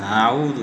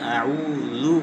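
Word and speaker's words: أعوذ: আইনের মাখরজ হলো হলকের মধ্যখান।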